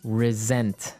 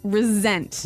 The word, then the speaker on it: resent: said I resent that resent resent okay now this is spelled exactly like resent like with an S right that's right re s n t but you pronounce it like a z mhm resent resent that so what